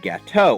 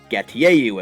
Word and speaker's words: Gateau: On Thursday, for defeating 5 trainers, you receive an old Gateau, or Gatieyu, as I knew many people used to pronounce it.